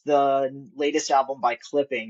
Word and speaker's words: clipping.: So, uh, it's pronounced clipping.